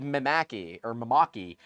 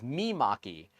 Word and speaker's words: Mimaki: I've always said Maki or Maki. It is Mimaki.